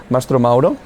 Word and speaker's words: Mastromauro: And I'm joined here by Mastromauro, who's the Global VP of Advertising at Deliveroo. Thank you. I pronounce the name well?